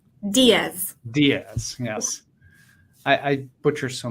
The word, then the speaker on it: Diaz: Diane uh and and remind me the proper pronunciation of your last name Diaz Diaz yes I I butcher so many last names